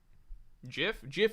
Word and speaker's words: GIF: GIF is the correct way to say it.